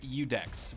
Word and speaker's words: Iudex: deep production and black Fireball so this is udex Gund Deere and I looked it up it is properly pronounced udex which stands for judge I guess you could